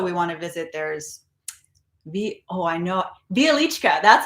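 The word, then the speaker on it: Wieliczka: There's Bialichka.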